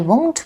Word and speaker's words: won't: We say won't, not just won't, but won't. It is a diphthong, O.